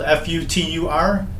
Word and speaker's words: Futur: It's spelled F-U-T-U-R, but I believe it's pronounced, my good friends in German would pronounce it Futur.